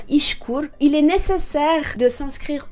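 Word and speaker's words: İŞKUR: Et le troisième critère est que vous devez aller vous inscrire à l'agence de l'emploi qui s'appelle, je vais le prononcer à la turque, hein, Ishkur.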